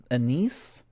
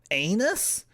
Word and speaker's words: anise: it's the it's an how do you say it in in English anise Anis anus no not that last one a n i s e that's black licorice right